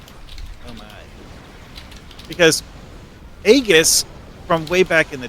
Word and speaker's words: Aegis: then you bring out Aegis and it's like, oh my, because Aegis from way back in the day was built as a tank set. Aegis. Aegeus. Aegis. That's how you say it in Greek.